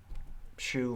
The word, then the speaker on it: Shu: Shu, like solitary confinement, like in Orange is the New Black? No, like as in the thing you wear on your feet.